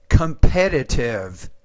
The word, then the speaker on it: competitive: Compete, competed, competitive, That would be competitive. The stress is on that second syllable.